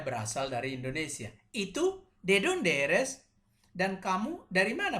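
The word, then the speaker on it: dónde: mau tekankan beberapa hal perhatikan setiap ada tile huruf di atasnya kode garis di atasnya itu menunjukkan penekanan disitu harus ditekan sih dia atau disini donde jadi bukan donde tapi donde atau disini kwantas dia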